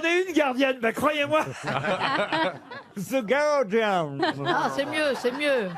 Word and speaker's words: The Guardian: Comment vous dites On vous dit The Guardian. The Guardian. The Guardian. Comment vous dites The Guardian. The Guardian. Normalement, effectivement, on dit pas le U.